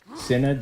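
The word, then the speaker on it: synod: called the I think It's s y n o d sinid that's how I've been pronouncing It Anyway a sinate is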